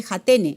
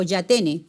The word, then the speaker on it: Jatene: Es la cirugía de Jatene o Yatene también, así le llaman, ¿ya? Jatene se escribe.